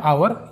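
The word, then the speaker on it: hour: दोस्तों एग्जांपल देखते हैं कई लोग इसे आवर या होवर पढ़ते हैं दोस्तों यह है आवर यहां पर एच साइलेंट है जिसका मतलब होता है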